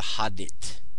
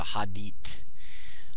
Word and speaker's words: Hadit: And so we call this the Hadit, or the Hadit. Hadit. I like to say Hadit, but I never heard anybody else say that. So Hadit. H-A-D-I-T.